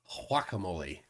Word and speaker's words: guacamole: um Johnny Rotten says pronounce guacamole more like the G was a w like guacamole uh ooh Flat Earth